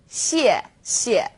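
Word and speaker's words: 谢谢: You can think of it kind of like the word she and 谢. Not too hard, right? 谢谢.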